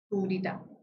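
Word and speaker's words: coup d'état: So the T is silent, and coup de grace, you will also tell me its meaning and in which all contexts I can use it.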